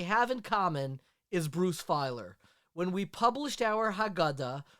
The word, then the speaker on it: Feiler: So I'm so excited to be speaking with author Bruce Feiler today. Am I pronouncing your last name correctly?